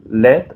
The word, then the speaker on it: Laird: son Kevin eastman y Peter led aunque se escribe lai Rd y es muy gracioso